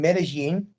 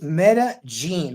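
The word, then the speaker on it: Medellín: First of all, instead of saying Medellin, which is what Colombians call Medellin, it's not Medellin, okay? It's not Medellin. It's Medellin, like jean shorts, like Daisy Dukes.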